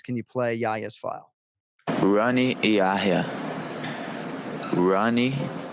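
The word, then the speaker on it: Rani: you play yaya's file ronnie he does not go by hani he has americanized it he says ronnie yaya so uh that's all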